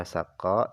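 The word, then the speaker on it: سقّاء: Cara baca saqa ini adalah bi fathis sin, dibaca fathah sinnya, wal qafil musyaddadah, dan qafnya itu dibaca tasydid.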